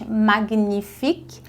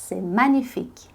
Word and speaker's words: magnifique: na sua vida porque eu ouço muita pronúncia errada com ela a gente não diz Magnific a gente diz magnic Magnific então é magnífico fica Magnific Magnific magnifique a gente também tem